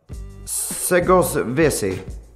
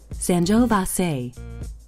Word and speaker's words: Sangiovese: Segovese. Sangiovese. Segovese. Segovese. Seg e ovese. And that's how you pronounce it.